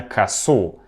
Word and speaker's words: косу́: Косу́, именно косу́. «Она заплела ко́су». В некоторых падежах ударение меняется. Обратите внимание. Он взял косу́, она заплела ко́су.